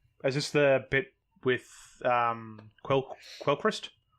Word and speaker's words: Quellcrest: Is this the bit with Quellcrest? Apparently it's pronounced Kelchrist, but there we go.